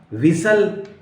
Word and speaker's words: whistle: Catch, patch, PATCH, match, batch, विसल, सीटी बजाना, WHISTLE, विसल mean सीटी बजाना।